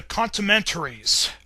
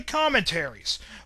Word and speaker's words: Commentaries: Another thing that you decided to rant about was the Contramentaries, or how it should be pronounced, the Commentaries.